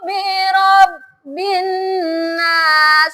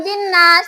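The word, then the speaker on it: بِرَبِّ النَّاسِ: Contoh, Qul a'udzu birabbin nas. Lihat panjang pendeknya. Bukan binas, tapi ditahan, itu 2 harokat.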